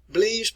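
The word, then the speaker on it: Blaise: philosopher all right let's work on the pronunciation here the french philosopher i'll show you likeness of him in a little bit here bleas blees pascal believes pascal and he wrote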